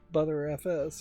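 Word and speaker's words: Btrfs: But everything uh for the most part, I've heard everybody pronounce it butter.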